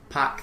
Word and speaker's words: PAOK: seen two people sit some people spell it out as the letters whereas other people say okay or pack Thessaloniki I've heard yeah I've heard pack used by by Greek people um of